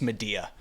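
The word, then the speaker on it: Madea: a bunch of movies about a character named Medea, but I'm not black enough to know that it's pronounced Medea.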